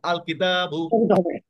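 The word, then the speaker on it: الكتاب: এটা হচ্ছে হরফে কমারি এক্ষেত্রে আমার লামটা উচ্চারিত হবে যেমন আল কিতাবু আল বাইতু হ্যা পরে আর এই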